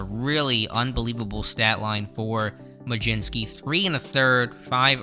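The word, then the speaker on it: Mlodzinski: butchered the name last time so it is maginski at least hopefully i'm pronouncing that correctly now so him and kumar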